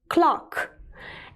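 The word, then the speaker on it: clerk: Pay attention, it's pronounced as clock.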